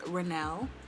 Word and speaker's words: Ronnell: is your full name my name is Rennell that is how it's pronounced it is also my